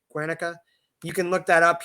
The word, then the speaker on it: Guernica: Franco just one other thing the bombing of guanica I think I pronounced that right Guernica you can look that up he denied it